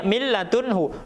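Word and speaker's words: مِن لَّدُنْهُ: Cara membacanya milladunhu, nunnya menghilang, ya. Jadi lamnya dimasukkan, kemudian tanpa dibarengi dengan mendengung, milladunhu, ya, milladunhu, ya.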